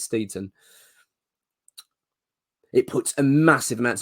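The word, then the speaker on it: Steidten: amount of pressure on Tim steeton that's his name apparently that's how you pronounce it that's what I'll hear unless I'm wrong let me know but I think it's Steven it puts a massive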